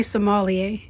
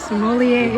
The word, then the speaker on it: sommelier: Similar to Somalia. Not somebody from Somalia.